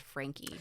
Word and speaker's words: Franke: Yes, it's spelled Frank, but it's pronounced Frankie, which is very confusing to me.